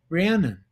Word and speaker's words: Rhiannon: i a n o n n o n rhiannon i said where the hell did your mother